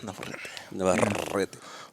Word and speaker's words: Navarrete: It's got two R's, so there's a specific way to pronounce it. Navarrete.